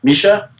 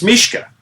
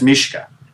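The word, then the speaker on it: Mischa: Philip's Russian name is Mishka. Is that right? Misha? Uh It's Mishka. Cuz the c h is a hard c h like in my name. So, that's Mishka.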